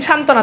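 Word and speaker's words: সান্ত্বনা: already বফলা যুক্ত আছে যুক্ত ব্যঞ্জনের সাথে এজন্য উচ্চারণ নাই এরপর দেখেন সান্তনা দন্তনত একটা যুক্ত ব্যঞ্জন আছে এর সাথে আবার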